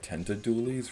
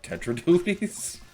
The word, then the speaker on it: Tetra Dualies: Dualies, which, fun fact, I often mispronounce these as the Dark Tenta Dualies rather than the Dark Tetra Dualies.